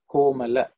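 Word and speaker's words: कोमल: languages we use them, but in Sanskrit it is a la, Komala. Okay, it may be sounding pretty funny for many people, but that's the way the Sanskrit is pronounced.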